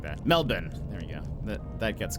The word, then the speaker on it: Melbourne: Unless you're in Melbourne. Why did I say it like that? Melbourne.